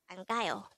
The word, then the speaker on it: 안가요: study about the word ankyo let's start learn korean one word at the time only here at dehango word number 254 this is pronounced as a three-syllable word the first little boy